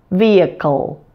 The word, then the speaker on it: vehicle: call a syllabic el even though it has no written vowel before the El we add a little one in pronunciation Kol vehicle and because that El